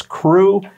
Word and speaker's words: CRU: the acronym is cru i understand that they pronounce it as crew and we are ready to get started our